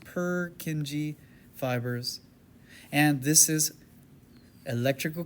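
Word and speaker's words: Purkinje: Perkingi pronounced perkingi fibers.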